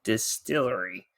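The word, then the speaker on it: DSTLRY: new publisher Distillery and this is how you spell it folks d-s-t-l-r-y Distillery has announced their first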